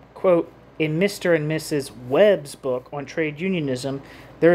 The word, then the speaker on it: Webb: and Mrs Webb's Jesus I'm starting to used to German pronunciations when I see strength Capital W's and that's not correct here Lenin wrote quote in Mr and Mrs Webb's book on trade unionism